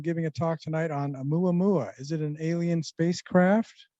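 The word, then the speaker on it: ʻOumuamua: So it's Oumuamua.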